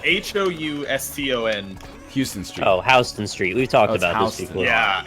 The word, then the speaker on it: Houston Street: yeah so this is Street New York and it's spelled an Hou sto and Houston's Joe Houston Street we talk about healthy yeah yeah see that's the thing it's like you'd think it was Houston you just kind of go with the flow